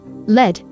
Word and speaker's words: LED: well not a lot the spelling pronunciation is definitely preferred but the word pronunciation is not unknown it doesn't seem to